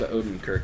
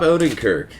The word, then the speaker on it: Odenkirk: because it's got rob odenkirk is how you pronounce his name rob odenkirk rob odenkirk great guy okay good guy but when i